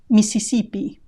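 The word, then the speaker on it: Misisipi: migan migan Mississippi Mississippi here we've lost quite a few letters remember that the written s in Spanish is always SE Spanish does not have the sound Z that sound does not exist in Spanish so there is no need for a double s in written Spanish missipi Mississipi if any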